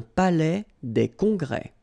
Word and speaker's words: palais des congrès: Final S here and here are not pronounced. Un palais des congrès.